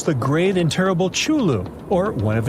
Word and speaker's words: Cthulhu: He said Chulu. Oh, whatever. You You Latin people always think you're right. Okay, you're not right. Okay, sounds pronounced, bro. He's American. He can say Tulu or Chulu if he want to.